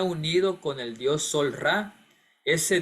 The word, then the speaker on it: Ra: con el Dios sol ra ese Dios Amón ra pronunciado re se hizo conocido en